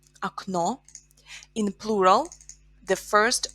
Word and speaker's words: окно: Например, окно, a window, окно. We have o ending here, so in plural, окно becomes окна, окна. In singular, окно, or the second o is stressed, окно.